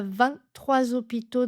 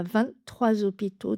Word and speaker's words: vingt-trois: Quand 23 est suivi d'un nom qui commence par un H muet, on fait également la liaison en the 23h. Il est 23h. Il y a 23 hôpitaux dans la région.